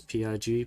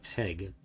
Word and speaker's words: Pegh: mission is house egg i don't think that's pronounced as pig but that's peg peg it's peg this is the klingon counter